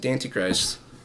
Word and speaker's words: Dantichrist: have to like basically say it's Antichrist, add a D. We pronounce it Dantichrist.